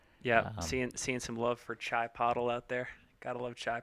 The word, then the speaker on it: Chipotle: Seeing some love for Chai Pottle out there. Gotta love Chai Pottle. Oh, Chipotle. I believe it's Chai Pottle. My mother-in-law calls it Chipotle.